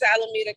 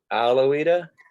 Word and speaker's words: Alameda: uh what county is this in this is alameda county alawita alameda county yes how do you spell that um a l a m-e-d-a d-a yes